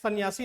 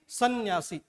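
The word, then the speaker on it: संन्यासी: आपको क्या बोलना है? सन्यासी नहीं, सन्यासी। ये इसका शुद्ध उच्चारण है।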